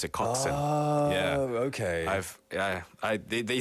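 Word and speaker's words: coxswain: oh must be intense the coxen I've heard this word before I was like coxen that's an interesting work oh it's a surname as well I have I have a not friend but genus on there he's hung on co co c o x s w a i n oh wow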